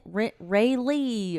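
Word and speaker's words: Raelleigh: It's like Ray Ray Lee or something, but it's spelled like R A E L L E I G H, you know what I mean?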